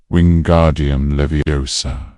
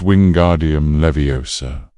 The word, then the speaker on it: Wingardium Leviosa: Wing Guardium Leviosa, he shouted, waving his long arms like a windmill. You're saying it wrong. Harry heard Hermione snap. It's Wingardium Leviosa. Make the gar nice and long.